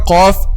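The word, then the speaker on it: ق: Letter qaf is the heavy version of the letter kaf. So letter qaf and letter kaf, both of them are pronounced using the back part of the tongue or the deepest part of the tongue, okay? But al-qaf is deeper than al-kaf. Aq deeper is al-qaf, and then al-kaf ak.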